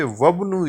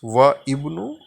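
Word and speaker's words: وابن: So it will be dropped or elided, and instead of reading it as wa ibnu, it shall be read as wabnu.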